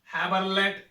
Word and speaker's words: Haberland: हैबरलैंड, that mean HABERLAND, silent है, T है.